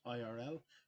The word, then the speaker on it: thirl: They're both pronounced the same way, but one with an I in the middle and one with a U, Thirl and Thurl.